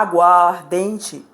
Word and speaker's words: aguardente: olha só a aguardente observe a queda de um a ficar muito feio eu pronunciei a aguardente é mais fácil pronunciar a aguardente com a sol com a subtração do a eu junto duas palavras só uma terceira com a pronúncia é mais agradável a água mais ardente